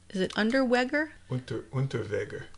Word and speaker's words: Unterweger: Serial killers, Unterweger. There, that sounds better. If we want to pronounce it in the German way.